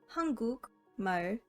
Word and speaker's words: 한국말: For example, 한국말, meaning Korean or Korean words, 한국 and 말. 한국 말 is pronounced as 한국말.